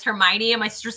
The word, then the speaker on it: Hermione: out and everybody like my sister was always pronouncing it hermoine in this books because like nobody told her otherwise and then i remember the movie came out and it was hermione and my sister's like